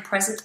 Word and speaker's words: present: a meeting I am present at the meeting okay um can you pronounce present there you go present present so it's a voiced s this is like I